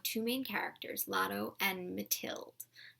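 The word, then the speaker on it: Mathilde: main characters Lotto and mathild I think that's how it's pronounced it's a ma th I el de mathild that's how I'm going to say it anyway the novel is broken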